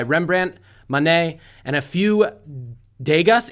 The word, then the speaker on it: Degas: Pieces by Rembrandt, Monet, and a few Degas. Is it pronounced Degas? Degas. Degas, thank you.